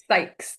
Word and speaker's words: Sykes: Hopefully I did the right pronunciation for your last name. Dianiela, welcome. Sykes.